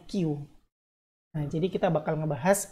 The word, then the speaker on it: queue: yang banyak sekaligus Nah itu namanya teknik cube tapi dibacanya Q nah jadi kita bakal